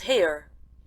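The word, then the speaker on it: Haigha: happy his name is hare he pronounced it so as to rhyme with Mayor I love my love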